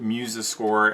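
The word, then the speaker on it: MuseScore: second one is called Muse score some people pronounce it muscore m c o r e and uh they're both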